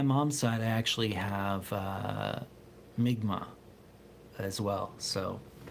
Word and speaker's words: Mi'kmaq: And on my mom's side, I actually have Mi'kmaq as well. So, which people used to call that Micmac, but yeah, more accurate pronunciation is used now.